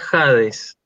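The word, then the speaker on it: ᾍδης: Acordate que habíamos visto en las primeras clases que esto se pronunciaba Hades, ¿sí? Esta Sí. iota no se lee, ¿sí?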